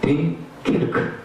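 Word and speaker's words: 덩케르크: 댕케르크. 이게 프랑스 지역 발음인데요.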